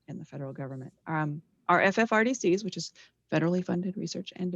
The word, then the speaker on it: FFRDC: Our FFRDCs, which is Federally Funded Research and Development Center, we say it like a word, FFRDC.